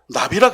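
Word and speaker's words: נביא: 여러분, 선지자를 히브리어 말로 나비라 그래요. 나비. 우리가 나비야 나비야, 그 나비처럼 발음이 똑같아요.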